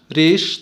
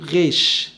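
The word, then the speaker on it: ריש: حرف الريش ريش، طبعا كتير من اليهود بينطقوا شبيه بنطق الار في الفرنسية، بيقولوا غيش غيش.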